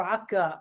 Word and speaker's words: Akko: but uh you know i'm from akko you see my background uh or akka as the uh palestinians would pronounce it but uh first of